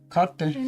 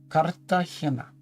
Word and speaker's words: Cartagena: How do you pronounce Cartagena? Cartagena. In Spanish? Sí. Cartagena.